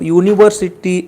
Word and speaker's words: university: so you can see the pronunciation of university is university why you university so here we are